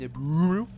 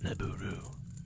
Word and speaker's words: Nabooru: I don't understand why it's spelled N-A-B-O-O-R-U. I mean, Nabooru. Nabooru? I mean, you could easily do it N-A-B-U-R-U. It'd be Nabooru or Nabura.